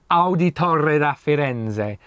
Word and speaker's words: Auditore da Firenze: Auditore da Firenze. Say it like this and you get it right.